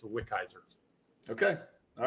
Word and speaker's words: Wickizer: their name is, how the hell do I pronounce that? Yeah, it's Wickizer.